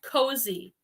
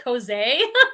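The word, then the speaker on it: Kosei: to make the mistake this is pronounced cozy k-o-s-e-i i was like cos a i'd never heard of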